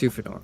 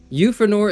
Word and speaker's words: Euphranor: Euphranor is debatably pronounced Euphranor if you're going by the Greek, but you can just say Euphranor because it makes more sense.